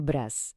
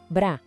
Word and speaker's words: bras: O braço, essa é uma palavra masculina, les bras. A pronúncia é le bras. Bem simples, né? Mas não se esqueça que o S no final é mudo, tá?